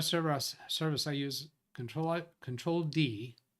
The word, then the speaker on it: Control D: service I use control control D I'm trying to pronounce that control ID because the L looks like an I has DNS 64 but